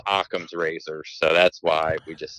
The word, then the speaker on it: Occam's razor: are very limited here I used to say Oh cams or how that's basically how I pronounced it but I was told numerous times it's pronounced Occam's razor so that's why we